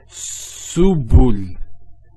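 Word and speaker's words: سُبُل: So to pronounce this has a S sound. So su, bu, and this is the lam, like the letter L. So subul, subul.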